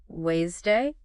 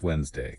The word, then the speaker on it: Wednesday: the d making it wday when really it's Wednesday exactly no D sound to be found same goes for knife